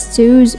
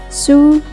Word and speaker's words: SUSE: You may hear some people pronounce this as Suse or Suse, but its actual pronunciation is Suse.